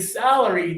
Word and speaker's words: salary: So, for this one, we're going to close our teeth. This one, we're going to open big. So, let's go back here for a a salary. Salary. Salary. Yeah. And now for this one. Close your teeth.